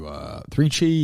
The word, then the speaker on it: 3Chi: You want to do 3Chi? You want to do which policy? Which one do you want to do? Let's see. We can do 3Chi, yeah.